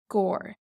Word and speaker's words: gcarr: to use it so for example we would have core but we would say air on Gore and we'd put in